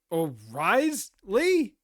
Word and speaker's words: Wriothesley: That wait, it's pronounced Wriothesley?